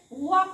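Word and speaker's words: walk: हा के च्या आधी एल आहे मग इथे वॉक वाचायचे वॉक एल वाचायचा नाही नेक्स्ट आहे टॉक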